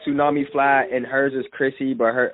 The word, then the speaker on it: Khryssi: Mine is Tsunami Fly, and hers is Chrissy, but it's spelled KHRYSSI.